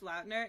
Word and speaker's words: Lautner: no Taylor Lautner and I think he did say his name's pronounced Lautner and he felt bad because everyone was saying it wrong um fun facts but